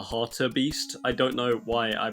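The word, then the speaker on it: hartebeest: in this next segment I call it like the har beast but it's actually called the Harter Beast I don't know why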